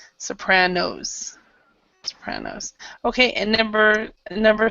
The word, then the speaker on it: Sopranos: where shows like the soprano and mad men have been popular okay so I'm try to remember also to pronounce the last s Sopranos Sopranos okay and number